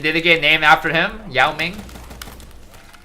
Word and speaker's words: Yao Ming: Yao Ming. Yo Ming is how you say it.